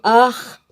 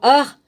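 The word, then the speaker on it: arrhes: qu'elle eût reçu, pour ainsi dire, comme des ar. Alors ar, ça s'écrit A-R-R-H-E-S.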